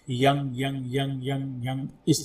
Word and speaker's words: यं: उसे यम कहते हैं कुछ लोग उसे यंग कहते हैं लेकिन याद रख य के ऊपर बिंदी है इसका मतलब य के बाद बाकी के जो शब्द है व नाक से बोलना होता है यंग यंग यंग यंग